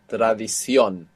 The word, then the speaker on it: tradición: So the O will have a written accent. That last O will have a written accent on the end, showing you that you're stressing it. Tradición.